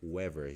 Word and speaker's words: Weaver: Mas depois da Apologia de Sócrates, um livro também muito bom é o Ideias Têm Consequências, do Richard M. Weaver, ou Wever, já ouvi as duas pronúncias, que vai mostrar algumas das causas, algumas das raízes da decadência da civilização ocidental.